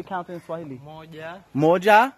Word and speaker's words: moja: Moja.